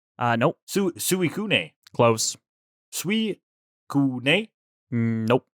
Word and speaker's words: Suicune: Why don't you take us out by trying to pronounce the Pokemon that the big blue Pokemon again for us? Suicune? Nope. Suicune. Close. Suicune? Nope. Suicune.